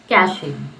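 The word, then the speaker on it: cache: इसका pronunciation is कैशे.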